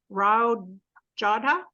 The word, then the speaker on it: Rao Jodha: Actually, I'm probably going to get the guy's name wrong. Rao Jodha Yes, Ji?